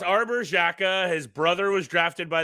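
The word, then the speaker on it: Xhekaj: Wi-Fi himself Arbor hey is that he pronounce it Jacka yeah Shaka oh yeah I'm not gonna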